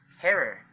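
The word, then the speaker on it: Herer: They said just think of terror. Terror. Harer.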